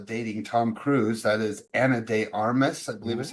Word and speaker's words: Ana de Armas: Okay, the rumored dating Tom Cruise, that is Ana de Armas, I believe is how you say her name.